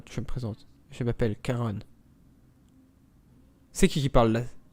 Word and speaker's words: Charon: n'est pas la bonne le nom que nous avons entendu n'est pas Karen c'est Caron Charon comme Charon le nocher des morts ok tout s'explique qui